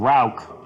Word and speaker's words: Rauch: I'm passing this along from Drunk Phytologist, but are you guys aware that it is Meyerson and Rauch, like ow for Rauch beers?